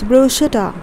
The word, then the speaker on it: bruschetta: hope that makes some sense so whenever you pronounce it next time it's bruschetta okay the next one oh many of you